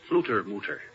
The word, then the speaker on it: Fluttermutter: That's pronounced Flutermutter.